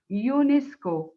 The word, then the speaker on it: UNESCO: c culture or organization and it is pronounced as one word it's not pronounced the u n e s no it's not pronounced the first one as f a oh no we say unesco it is pronounced as